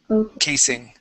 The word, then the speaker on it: casing: asra okay and so instead of K it's going to be case that's a that's an unvoiced s casing uh uh could you say